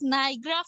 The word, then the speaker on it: Niagara: The Niagara. Niagara. Niagara. बोलिए. Niagara. Niagara Falls. Falls. F-A-L-L-S. Falls. Niagara Falls. Okay. Once again, Niagara. Niagara. Niagara. No, beta, A is also there.